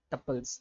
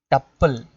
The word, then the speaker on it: tuple: It is tuple, not tuple. Okay, tuple. It is rhyming with the couple. Like how you say couple, likewise you should say tuple. Okay, you should pronounce like it.